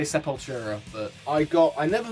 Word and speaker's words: Sepultura: supporter or supultra support how do you want to pronounce this ben i i say super talk throw away my tongue there i i say sepultura but i got i